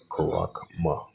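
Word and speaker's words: χάραγμα: The pronunciation, karakma.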